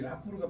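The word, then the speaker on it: rapport: 이게 이제 그 퍼미디얼 릴레이션이라는 건데 이 퍼밀리얼 릴레이션 이게 라포르가 프랑스어거든요. 이 라포르 T가 이게 프랑스어에서도 재밌는 게요. 끝에 이 T가 나올 때 모음 다음에 T가 나오면 발음이 안 되는 거 아세요? 우리가 피에로 할 때 P-I-E 이게 프랑스어가 피에로 있죠.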